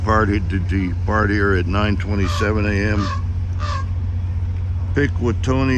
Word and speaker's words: Pikwitonei: pick with Tony is spelled Pi K wi t o NE I hermer subdivision of the